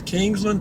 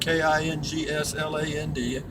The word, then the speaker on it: Kingsland: uh again this is Kingsland Texas one word k-i-n-g-s-l-a-n-d the people up here just call it Kingsland pronounce it King's land they just kind of bunch it all together and call it Kingsland and uh we've got